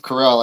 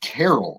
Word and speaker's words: Carell: I'm like, who's Steve Carroll on the morning show? I literally typed in Google Carroll, Carol, and Google was like, no, idiot, it's Carell.